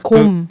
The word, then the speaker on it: Qom: 곰. 네. 네, 전 처음에 잘못 봤나 했었어요. 곰. 스펠링으로 하면 QOM인데 이제 뭐 QM. 페르시아어식으로 읽으면 곰이 되는 거고요.